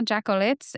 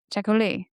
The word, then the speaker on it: Jacolliot: Uh From what I saw, Jacolliot's influence on Saint spell that? Jacolliot Jacolliot Uh J A C O L L I O T, but it's French.